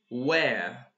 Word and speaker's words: where: like American British like where or where okay and the second one this one is were were where were now how can I understand and comprehend the pronunciation of this particular two words by repeating so repeat after me repeat where where where were like look at my mouth like where where where were were I'm making my mouth